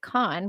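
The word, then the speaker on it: Caen: So to name your city Kain, I'm going to pronounce that Kain, but um they do actually pronounce it Khan, which puts me in mind of Khan like um the Mongols, Genghaskhan.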